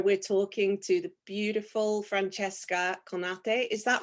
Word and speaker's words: Francesca Conate: talking to the beautiful Francesca Conate. Is that right, your That pronunciation? that was so beautifully pronounced. Yes. I did it the Japanese way.